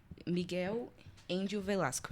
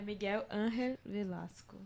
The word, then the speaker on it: Miguel Ángel Velasco: Miguel Índio Velasco. Acho que é assim que pronuncia o... Acho que é Angel. Pronto, a Lai vai traduzir aqui, fala aí. Espanhol. É Miguel Ángel Velasco.